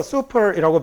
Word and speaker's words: super: 얘는 슈퍼가 아니고 슈퍼가 맞는 발음입니다. 아까 얘기했던 것처럼 S 하나는 쌍시옷 발음이 나는 거예요. 그리고 얘 발음이 U 발음이 아니라 이렇게 붙으면 우로 발음 나서 super이라고 발음하는 게 맞습니다.